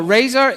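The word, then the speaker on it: Razor: so what are we going to start with Razer Razer is the new view engine that is in asp net mvc3 and how many of you have actually played with Razer okay not a lot so Razer is is how I would say it like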